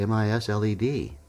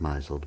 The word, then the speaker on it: misled: And I said, but it's in the dictionary, M-I-S-L-E-D. She goes, Tom, it looks like misled, but it's pronounced misled.